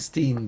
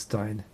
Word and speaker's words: Stein: why I don't know whenever I see Stein I I I I just think Steen but no I'm pretty I'm pretty sure now it is Stein I just like mispronouncing